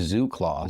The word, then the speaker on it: ZooClaw: Pronounced as Zoo Clause, Zoo Clause is a productive team of AI specialists built for creators, entrepreneurs, and operators who need bandwidth.